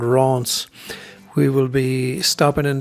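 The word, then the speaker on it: Reims: traveling through uh re well it looks like reams to me but i think it's pronounced ron's we will be stopping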